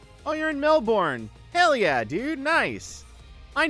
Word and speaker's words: Melbourne: Otherwise, I'll just do it in um, we pronounce it Melbourne. Hey, thanks for telling us. In American English, it looks like Melbourne, but I totally understand.